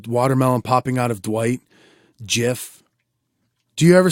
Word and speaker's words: GIF: correcting them but it's actually supposed to be pronounced jiff but that that's that's a